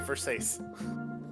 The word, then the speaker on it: Versace: Is that Versace? Cannot believe you It's- didn't ask for it's actually- Fortnite in here. It's actually Versace. Oh my god. Oh, is that how you pronounce it?